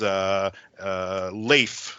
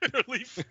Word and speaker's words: Leif: So if Burke is from Bark, this guy's name is Leif, like Leif Erikson. Yes. Or Leaf, or how do you say that? Yeah, that's him. So the nerdy Leaf. guy is Leif Erikson. Leaf, yeah.